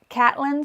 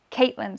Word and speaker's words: Catelyn: But he changes the way that he pronounces some names. So Catelyn Stark or Caitlin Stark. Some books he says Cat, some books he says Caitlin.